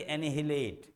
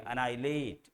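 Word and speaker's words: annihilate: यहाँ देख रहे होंगे स्पेलिंग के साथ इसका प्रोनाउंसिएशन मैच नहीं कर रहा है। इसको ये मत पढ़िए एनिहिलेट, गलत हो जाएगा। पढ़ेंगे अनाई, HI को छोड़ दीजिएगा, अनाइलेट।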